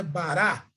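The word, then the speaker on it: ברא: Bará, bará. Então, bará, a transliteração é bará, a pronúncia é bará, e em português é criou, Bereshit bará, no princípio criou.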